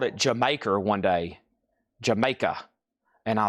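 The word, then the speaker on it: D'yer Mak'er: Bruno Mars Dire Maker from Led Zeppelin song is pronounced Jamaica. Jamaica pronounced uh Cognney British pun for the phrase did you make her?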